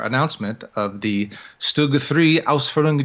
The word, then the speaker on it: Ausführung: to the various Ausfs Or how did you pronounce that again? Ausführung.